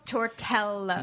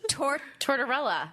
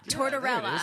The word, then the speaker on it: Tortorella: Nico Tortello. No, terrible. That wasn't even close. Tortella. Wait, I want to Sound it out. Sound it out. Tortorella. Tortorella. Thank you.